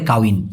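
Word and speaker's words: kahwin: মানে হল বিবাহ হ্যা কাউন মানেও কিন্তু বিয়ে ভাই এখানে দেখুন উচ্চারণটা লিখছে কিরকম মালয়েশিয়ান ভাষায় কিন্তু এভাবেই লেখা হয় সাধারণত কাউন কাহন তবে এই হটাকে ওরা বেশিরভাগ ক্ষেত্রে উচ্চারণ না করে বলে কাউন মানে বিয়ে নিলাই নিলাই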